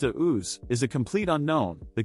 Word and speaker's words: Deus: While Austrian startup Deus, pronounced Deus, is a complete unknown, the company has recruited proven partners for its first vehicle, the electric Vian hypercar.